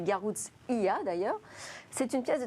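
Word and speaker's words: Garoutzia: qui a hacké garruzzia il faut prononcer garouze iya d'ailleurs c'est une pièce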